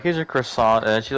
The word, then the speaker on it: croissant: I had someone I had had someone else do the window and then they're like, "Here's your croissant." And she's like, "Actually, do you know it's pronounced like quasant?"